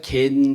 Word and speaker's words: 겐: 우리가 겐 족속이라고 발음하는데 겐이라고 반음하는데 어 영어로는 캐나이트라는 어 단어를 사용합니다.